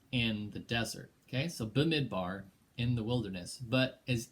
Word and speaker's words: Bamidbar: word in the first verse and here it's bamidbar bamidbar if i said it pronounced i took three semesters of hebrews so